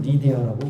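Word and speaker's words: Lydia: 자, 오늘 본문 말씀에 등장하는 여인이 바로 루디아라고 하는 영어로는 리디아라고 이렇게 발음하고 있습니다.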